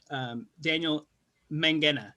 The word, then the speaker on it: Daniel Mangena: For those of you who don't know Dan, we're doing an event with him, Daniel Mangena, right? Yes. That's how I pronounce it.